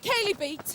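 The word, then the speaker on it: Chalybeate: Is it Kaylee Beat? Yes, yes. Kaylee Beat, right. Okay. Shady beats. Shows we've never heard of it. And Local pronunciation. Kaylee Beat.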